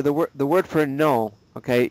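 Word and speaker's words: non: So for the word the word for no, okay, you don't pronounce the N at all.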